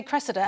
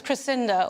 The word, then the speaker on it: Cressida: Metropolitan please sure still nobody can say Cressida everybody says crescinda or oh really well